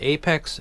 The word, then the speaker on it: apx: for the PMG audio Apex it's spelled apx it's pronounced Apex um this is a